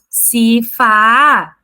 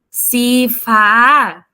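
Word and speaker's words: สีฟ้า: Na hora de você pronunciar, você não pode falar, por exemplo, Sifa, não. Você sabe que aí o tailandês tem os tons. E isso é uma parte aí bem chatinha da língua tailandesa, né?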